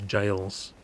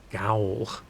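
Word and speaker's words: gaol: Shit, what's the assassin dude in one of those jails? Which also, I never knew that's how you pronounced it. I thought it's Gaul. I didn't know it was also jail.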